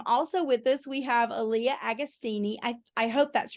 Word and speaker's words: Alliah Agostini: And also with us, we have Alliah Agostini.